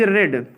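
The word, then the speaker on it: read: हाँ yes form, Hindi is रेड, RED, रीड का third form रेड पढ़ा जाता है, लेकिन लिखा स्पेलिंग वही जाता है, हिंदी इज रेड, ठीक है।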